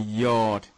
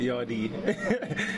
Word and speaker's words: Yarde: It's not Yarde. It's Yarde. Because I hear people shouting